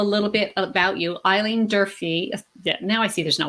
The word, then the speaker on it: Durfee: Did I pronounce that properly? It's Durfee.